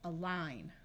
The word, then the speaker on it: align: R narl right here this GN will just have the sound of n the a is at the beginning of a word and a at the beginning of a word often schwas and takes on a muffled H sound this I will be long so this word is align the rest of this